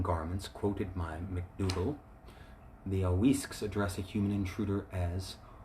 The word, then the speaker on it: Amhuisc: The English phonetics for the Gaelic Amhuisc would be Awisk, so I'm fucking it up.